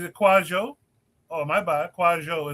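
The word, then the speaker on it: Kwadwo: Kwajo is the pronunciation, not Quadwo.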